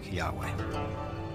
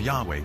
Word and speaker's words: Yahweh: and his name was these four letters which in English would be YH w AG which we think were probably pronounced something like Yahweh but Yahweh only appears